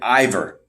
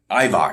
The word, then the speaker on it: Ivar: They must love Eric and Ivor. Is that how you pronounce it? Ivar.